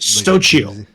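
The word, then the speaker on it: Xóchitl: I am going to have to search Google for a pronunciation. Oh shit. Is it really that? Like a Stochio.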